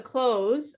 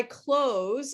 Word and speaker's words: clothes: actually here's a trick people actually don't pronounce the th in this word this is how it